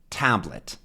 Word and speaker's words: tablet: that two tablet and what's the stressed one exactly Tab tablet monitor monitor three good Monitor